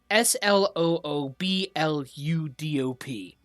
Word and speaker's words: Sloobludop: Shushar seems okay with anything, but he does note that Sloobloodop, that's, oh my god, Sloobludop. Kuato names. Good lord. Spell it out again.